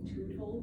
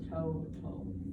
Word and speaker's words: total: So kind of like total, you know how like that's why we don't say tootle, because it is open syllable. So total. Yeah, it's the long O instead of a.